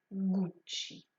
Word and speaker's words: Gucci: fondateur guccio gucci witschi il y à 2 c est l'erreur la plus commune ces deux noms prononcés qu'un seul donc rappelez vous qu'il y en a deux et que vous devez les prononcer gucci la deuxième marque que